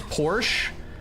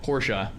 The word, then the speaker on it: Porsche: You're saying it wrong still. Porsche is two syllables.